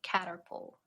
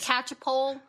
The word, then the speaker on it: Catchpole: Saint Caterpole. Am I gonna get the pronunciation wrong again? It's Saint Catchpole.